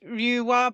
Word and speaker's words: Lua: Well, it's Lua, but yeah.